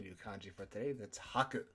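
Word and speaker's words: 吐: That's haku. To vomit, emit, express, or confess something. It's kind of a giving motion. The other way to pronounce this word is to, and it means spit, vomit, belch, or to confess.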